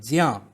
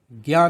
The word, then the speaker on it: ज्ञ: इसकी जो सही प्रोनाउंसिएशन उच्चारण है वो है ज्या, ज्ञा नहीं। जैसे विज्ञान, विज्ञान नहीं बोलेंगे, विज्ञान, ज्ञान, यज्ञ।